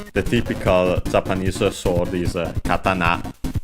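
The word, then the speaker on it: 刀: Of course, as you might already know, the typical Japanese sword is katana. Yes, accented on the na, if I remember correctly.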